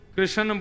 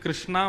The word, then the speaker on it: कृष्ण: लाल की जय बंधुओं कई लोग इस नाम को अशुद्ध बोलते हैं कई लोग कृष्ण बोलते हैं कई लोग कृष्ण बोलते हैं कोई कृष्णा बोलता है भगवान का नाम शुद्ध उच्चारण करो नाम क्या है कृष्ण भगवान जय श्री कृष्ण